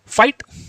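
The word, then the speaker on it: fight: Next है जब किसी वर्ड में आई के बाद जी एच टी आए तब भी आई को आई से पढ़ते हैं, और एच टी में आया जी एच हमेशा साइलेंट होता है, जैसे फाइट, लाइट, राइट, नाइट, इस तरीके से।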